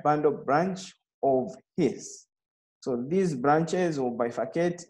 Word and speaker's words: His: So this bundle of His, so this is not pronounced as His, it's pronounced as His with a double S.